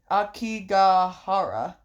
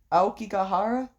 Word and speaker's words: Aokigahara: The, Akigahara. Aokigahara? I need a pronunciation for that, so... Aokigahara.